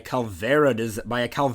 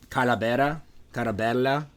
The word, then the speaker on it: calavera: be inspired by a Calvera design, which is like the pretty looking skulls. Oh, okay. Yeah. It's Spanish. It's Spanish for skull. It's pronounced Calavera, something like that. What? Oh, Calavera?